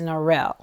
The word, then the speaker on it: Norrell: story start my name is as it's pronounced in Richmond there's a school here named for our grandfather Albert Elementary School that generations of children went to however when you leave Richmond is pronounced as it's spelled which is Nel so when I introduce